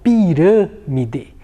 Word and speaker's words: pirâmide: palavra pirâmide olha só pirâmide a sílaba hum ela é uma sílaba mais fez e então quando o timbre da vogal é mais fechado e utilizo o acento circunflexo muito bem esse essa